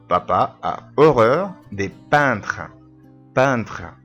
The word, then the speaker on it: peintre: peintre الإي إن تنطق un. peintre impressionniste.